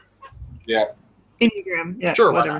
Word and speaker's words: Enneagram: How's it pronounced? Enneagram? Yeah. Enneagram, yeah.